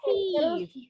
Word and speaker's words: thief: Ujung lidahnya keluar. Seperti pengucapan huruf sa. Sa.